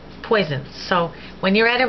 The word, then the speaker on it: poison: But it's pronounced like a Z when you've got one S between vowels, as in poison, poison.